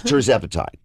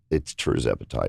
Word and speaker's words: tirzepatide: Say it how you say it. T-I-R. Tirzepatide. Tirzepatide.